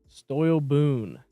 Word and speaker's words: Stoyle Boone: Next up, Stoyle Boone, which is the correct pronunciation of that.